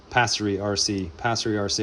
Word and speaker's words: PasseriRC: I never say that right. PasseriRC. I always want to add extra syllable.